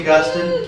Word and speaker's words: Augustine: save Agustin yeah and you can pronounce his name Agustin or Agustin it doesn't matter to me it seems that it's it's fashionable in the patristic world to say a Gustin but you say state Agustin that's okay with me his name is Aurelius